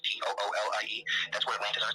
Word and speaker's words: Thule: to call themselves the Thule, like Thule, but pronounced Toolie.